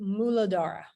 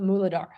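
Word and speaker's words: Muladhara: the root chakra but in Sanskrit it's called muladara and I probably am not even pronouncing it right but muladara okay so root Moolah means root in Sanskrit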